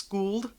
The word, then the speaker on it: Skuld: Another thing was Skuld, which that's how it looks like you would pronounce it, Skuld, but it's Skuld.